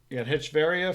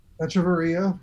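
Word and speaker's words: Echeverría: You got Hitchveria, Fried, and Inciarte. And now, I think I pronounced 2 of those names incorrectly. Echeverria, former Met.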